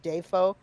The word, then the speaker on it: Dafoe: He said that half of his family pronounces it Dafoe, the other half of the family pronounces it Defoe, and he just thought the Defoe was right.